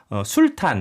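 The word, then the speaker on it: Sultan: 하지만 1978년에 발표한 그들의 첫 앨범에서 술탄, 그러니까 썰튼이라고 발음하는데 네.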